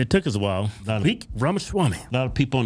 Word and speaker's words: Vivek Ramaswamy: Vivek Ramaswamy. A lot of people on the right don't even take the time to pronounce this dude's name right.